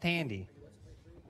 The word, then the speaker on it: Thandie: I believe it's pronounced Tandy.